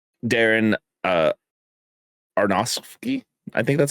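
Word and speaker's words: Aronofsky: Um, and I I just have to mention he also did uh Oh, Darren Areronowski.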